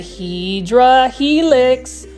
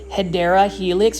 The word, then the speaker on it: Hedera helix: video without seeing a Hydra helix, or more so to say the correct pronunciation, it is a Hedera helix, or an English ivy.